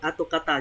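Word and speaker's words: 跡形: Ato, à đây là atokata, cái từ này đọc là atokata nhé mọi người nhé, chữ tích với cả chữ hình atokata nghĩa là vết tích.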